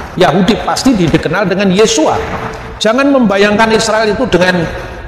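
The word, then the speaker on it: ישוע: tapi ie ya Nah ketika itu diucapkan dalam bahasa aram bukan lagi Yosua tapi yesua ringan sensus pada abad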